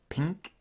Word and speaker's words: pink: Like how the word pink is actually pronounced as the word ping followed by k rather than pin followed